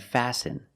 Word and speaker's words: fasten: Fasten is a verb and the t is silent.